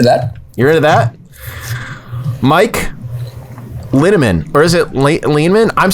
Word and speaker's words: Linneman: So last name is Linneman, rhymes with cinnamon.